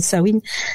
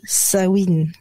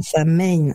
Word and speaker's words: Samhain: c'est pour ça que je dis sawin ce qui à la base c'est un mot gaellque euh qui s'écrit S a M u i n d' sawin et non pas sa main et ouais et alors